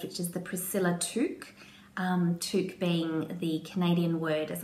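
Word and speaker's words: toque: she's just released which is the Priscilla truck took being the Canadian word as I understand it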